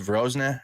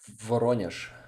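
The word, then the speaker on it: Воронеж: Took, how do you say Vorozhne? How do you say it properly? Voronezh.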